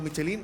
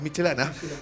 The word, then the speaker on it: Michelin: Segundo punto, para todo lo que le decíamos Michelin, no, es Michelana.